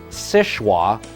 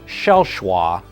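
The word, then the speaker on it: Seul Choix: The name of the lighthouse is French and it's pronounced many different ways. The locals call it Sichwa or Shelchwa, and in French it means only choice.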